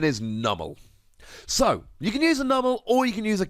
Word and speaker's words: Numel: can use the pre evolution incidentally the correct pronunciation is numel so you can use a double or you